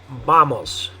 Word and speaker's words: vamos: They'll say something like vamos. Okay, because in English we have like the word van. I've heard people say like vámonos is another word that's like this one in Spanish. Anyway, but the way you're going to say it in Spanish is with the B sound.